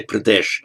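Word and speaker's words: प्रदेश: um you have uttar pradesh literally the northern province sorry say pradesh because that's how it's pronounced in modern hindi it sounds good the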